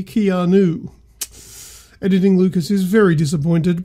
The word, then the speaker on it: Keanu: get his name wrong it's not kion oh it's clearly Keanu editing Lucas is very